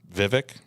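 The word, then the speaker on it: Vivek: um Tucker Carlson and Vivic the billionaire Viv Viv rhymes with cake I love cake oh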